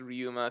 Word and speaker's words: Ryuma: not ryuma don't listen to the comments it's pronounced ryuma says mayan ryuma okay okay so maybe i've